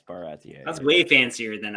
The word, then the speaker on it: Baratie: Did you say Baratier? Is that how it's pronounced? Yeah, I was wrong. Yeah, it's Baratier.